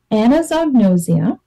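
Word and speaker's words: anosognosia: actually affected by this anazognosia and I like to say it slowly to spell it out Anno Zog no Zia so this is something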